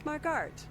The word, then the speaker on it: Marguerite: How do you say your name? My name is Margart.